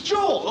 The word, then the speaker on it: Joel: It's Joel, okay? It rhymes with bull.